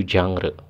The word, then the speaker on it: genre: ragam ya yang atau dalam bahasa asingnya itu jangre ya biasanya di kita ditulis genre gitu ya itu bacanya gitu Nah itu merupakan ragam